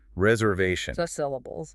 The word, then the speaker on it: reservation: Reservation. The main stress is on the vat syllable.